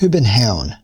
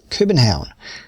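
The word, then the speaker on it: København: Happiness Research Institute in Copenhagen in Copenhagen they pronounce it urban town in Danish urban town and he's spent years studying the magic of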